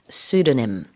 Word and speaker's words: pseudonym: pseudonym에는 P가 있지만 발음하지 않아요. 그래서 pseudonym, pseudonym.